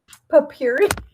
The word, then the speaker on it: potpourri: Papyri.